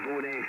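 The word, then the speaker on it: Bo'ness: A little town called Bowness.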